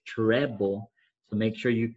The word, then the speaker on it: treble: not want to say a lot of people think it's this this is wrong trouble like you're in trouble at school no it's not trouble cliff okay it's treble so make sure you